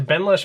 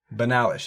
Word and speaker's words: Benalish: Benalish. I would say. Benalish. Yeah, and I always called it the Benlash. It's the Benalish Marshal.